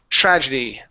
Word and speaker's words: tragedy: So we want to pronounce a CHR sound. Chur. Tragedy.